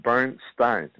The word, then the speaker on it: Bernstein: pronounce his last name, Bernstein. No, it's Bernstein.